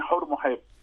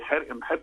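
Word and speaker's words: حورمحب: احنا نسميه ايه؟ نسميه حر محب. ايوه. لكن هو في الاصل، عشان كده احنا لما بنقول يا جماعه ننطق الاسماء مظبوطه، هي ليها قصد الكلمه دي. ليه حر ام حب؟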